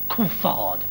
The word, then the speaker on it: Coulthard: And David Coulthard, of course, insists on having his name pronounced Coulthard.